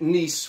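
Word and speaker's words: gneiss: back to igneous so I think of nice as as nice as it gets right so play on the pronunciation there here's your metamorphic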